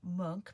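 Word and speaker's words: Munch: Um so you pronounce his name monk, but it's actually spelled m u n c h.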